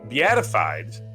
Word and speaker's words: beatified: 2003, Pope John Paul II, beatified. It's a tough word because it's got to break up the syllable between the E and the A.